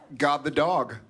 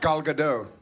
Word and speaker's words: Gal Gadot: God the dog. God the dog. How do you say it? Gal Gadot.